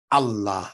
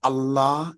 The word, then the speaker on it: Allah: Ah, Allah, that A at the beginning of Allah is a guttural also. The second sound of A, Allah, that ah right there, that's a vowel. So Allah contains a guttural called alif, as well as the vowel fatha.